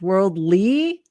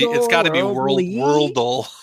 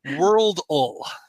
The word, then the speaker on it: Worldle: not Wordle, or I don't know if it's pronounced Worldly. But no, it's got to be Worldle. Okay, so speaking of the AI, the translation is going to have a hard time with this one. Okay, so Worldle.